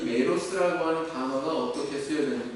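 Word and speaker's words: μέρος: 상관은 헬라어로 메로스라고 발음을 하는데 이것은 여러 가지 단어로 번역이 됩니다.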